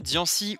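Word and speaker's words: Diancie: ce favoritisme le saviez-vous dian 6 ou d'ailleurs aussi puisque c'est comme ça que ça se prononce et le seul pokémon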